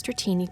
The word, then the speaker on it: Dratini: As Dratini grows, it is constantly in malt.